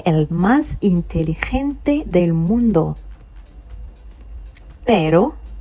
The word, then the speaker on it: pero: Pero, you see how I'm pronouncing this one? Not the way we say pero. a bit more spicy. Pero, okay, pero, can you try it one more time?